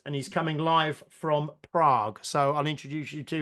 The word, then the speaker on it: Prague: of trivia for you Prague is one of the five monosyllabic capitals of the world so it's only got one syllable in its in its name and there to say